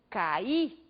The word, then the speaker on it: caí: Caí. O I foi pronunciado com bastante intensidade. Temos aí uma vogal tônica.